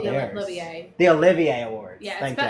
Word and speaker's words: Olivier: The Olivier Awards. Yeah, Thank it's spelled Oliver, but it's Olivier.